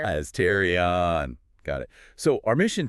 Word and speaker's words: Astarion: And that's pronounced Estrion, just so everyone's clear. As Terrarion.